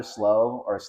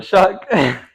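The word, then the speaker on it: Shough: It's honestly not even about Tyler Slaw, whatever. Shuck. Tyler Shuck, like that. Come on, bro. It doesn't even look like how it's supposed to be pronounced.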